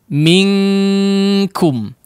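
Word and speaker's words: منكم: Minkum bunyinya betul-betul langsung ang ya. Minkum atau minqa. Minqa. Min qablina. Min qabl ya. Kurang lebih seperti itu bunyi ya daripada ikhfa ketika terjadi pada huruf kaf dan juga qaf ya.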